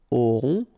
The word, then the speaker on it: auront: Okay, then ils auront, final T not pronounced, O-N together, on, auront, okay, and then the link between the two, ils auront, elles auront.